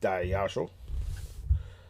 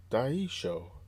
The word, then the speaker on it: Daisho: come on come on you see that gives you like a something say oh D show show you know what